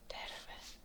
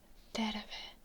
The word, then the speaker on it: terve: And terve. It's good to take your time repeating them, especially the rolled R can be quite difficult if you're not used to rolling your R's.